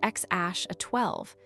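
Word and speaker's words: X Æ A-12: They named him exatilda a zi pronounced ex aash a 12, a name that was literally illegal in California until they modified it.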